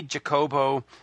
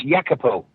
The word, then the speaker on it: Jacopo: Well, just to go back to our previous conversation, I shall pronounce his name for you. His name is Jacopo. Jacopo.